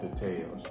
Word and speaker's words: details: They be putting emphasis on the wrong syllable. The details. Not details, but details.